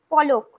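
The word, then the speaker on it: पलक: যেমন পলক এটা আমরা বাংলায় বলছি আর হিন্দিতে হবে পালক, পালক পলক কিন্তু হিন্দিতে উচ্চারণ হবে পালক।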